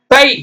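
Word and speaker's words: thigh: ஓகேங்களா பார்க்கலாம் டிச் ஐ தை அவ்வளவுதாங்க தொடைக்கு என்ன சொல்லணும் தை ditch I ஜி H ditch I ஜி ஹெச் எழுதணும் படிக்கும்போது டிச் ஐ மட்டும்தான் டை அடுத்தது பெருமூச்சு வருது அப்படி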